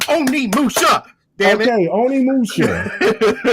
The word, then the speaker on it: Onimusha: Viper's like, even I can pronounce this right. Why can't you? Okay, I've been saying that game wrong all my damn life. He even clapped and everything. He was like, Oni Musha.